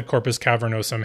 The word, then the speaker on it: corpus cavernosum: knows him the muscles that close off the Corpus cavernosum have to relax to actually let in the